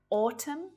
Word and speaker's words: autumn: So just like silent B's, N is silent at the end of a word when it follows M. Dam, autumn, column, hymn, condemn, solemn. You don't hear it there at all. It's not autumn, just autumn.